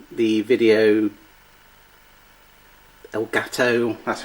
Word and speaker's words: Elgato: The Video Elgato. That's how you pronounce it.